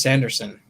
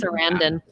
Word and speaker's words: Sarandon: the composed parts then you had a chris sanderson there's am i pronouncing that right serenda yeah serendon anyways chris clarendon i think is i'm butchering it but anyways